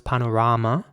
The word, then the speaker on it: panorama: It's spelled P-A-N-O-R-A-M-A. And the same principle applies. So it's panorama in British English and panorama in American English.